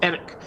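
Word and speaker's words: Erech: By the way, the melon heads and I pronounced the stone of Eric as Eric, as in Eric tenhog.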